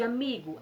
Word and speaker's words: amigo: No caso de amigo, amigo, amigo, amigo, mi. Então a nossa sílaba tônica é o mi.